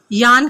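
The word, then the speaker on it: yarn: دا یان, یان کہتے ہیں دھاگے کو. یان, یہ جو درمیان میں آپ کو آر نظر آ رہا ہے سپیلنگز میں, یہ سائلنٹ ہے, اس کو نہیں پڑھنا.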